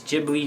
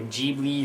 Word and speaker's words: Ghibli: jibli GH i b it's jibli or jbi or gibli however you want to pronounce it I say jibli myself uh two jibles done